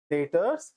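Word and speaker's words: debtors: हैं ये डेबिटर creditor इनको नॉर्मल हम डेटर्स क्रेडिटर्स ऐसा पढ़ते हैं प्रोनाउंस कैसे करते हैं इसको डेटर्स क्रेडिटर्स लेकिन कोई जरूरी नहीं है आप डेबिटर भी बोलो क्रेडिटर बोलो क्या फर्क पड़ना है ठीक है तो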